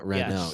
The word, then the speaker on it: Renault: Renault. Renault. Rena. Renault. Renault. Renault. Oh, yeah. Yeah. Because the a l is silent. It's more It's more uh French. They say it more French. Yeah. Renault.